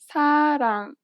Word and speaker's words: 사랑: This letter is often represented as an R or an L, but you do not pronounce it this way. In fact, there is no equivalent sound in English for it. Listen to a word that uses this letter. 사랑. 사랑. It sounds closer to an L than an R in English.